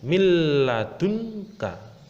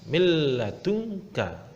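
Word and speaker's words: مِنْ لَدُنْكَ: Yang kedua, ada nun sukun bertemu dengan huruf lam. Cara membacanya milladunka. Milladunka.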